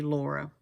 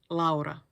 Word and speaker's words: Laura: So in English-speaking countries, it will be Laura. But in Finland, we say Laura.